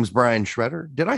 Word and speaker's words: Sciaretta: have a special guest his name is brian shredder did i say that right brian i did